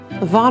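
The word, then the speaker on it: Vosne: Von Romanée. S-N-E is von. The S actually becomes silent. Romanée, because it's a double E with an accent on it, that is also emphasized. So it is Von Romanée.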